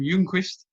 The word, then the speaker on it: Ljungquist: via zoom pull away from copenhagen by kim jungquist did i nail that pronunciation that's perfect thanks man nailed it kim